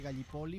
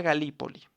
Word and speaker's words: Gallipoli: En el Medio Oriente, la campaña de Gallipoli fue un intento fallido de los aliados Se pronuncia Galípoli.